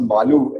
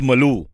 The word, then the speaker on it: Malu: It's actually pronounced Malu, and that rhymes with a lot of other words like Chalu, Alu, Bhalu, all of that.